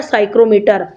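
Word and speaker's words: psychrometer: kilometre नहीं पड़ती थी साइलेंट लैटर इसको हम पढ़ते हैं साइक्रोमीटर तो हम अपडेट इसके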